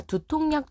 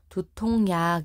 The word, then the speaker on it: 두통약: 발음했다 빗물이 나는 것처럼 두통약 이렇게 얘기하지 않고 두통약 니은을 추가해서 발음한다는 이야기예요 자 근데 지금 이런